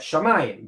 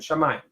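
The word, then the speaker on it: שמים: where you see that Shamayim, because that's like the aleph is silent. Eshmayim. So the aleph is silent and Shamayim.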